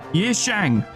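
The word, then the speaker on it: Yi Sang: much like Shi Yang, I've been saying their name wrong so much. What? How is this so difficult for me to grasp? Yishang.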